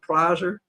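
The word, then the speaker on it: Pilzer: He taught at New York University Paul I don't he pronounced his name like but it's like the drug Piser and he said we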